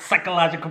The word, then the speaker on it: psychological: Psychological projection. Yeah, you're using big words. Psychological projection. You know what that also stands for? PP. Psychological projection. We know there's a silent P in psychological.